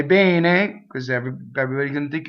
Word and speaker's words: bene: Momento, bene, bene, bene, not bene, not bene. You don't hold it too long. Bene. Notice that bene, right, is open E.